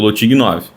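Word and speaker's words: לא תגנב: A pronúncia é lotig 9.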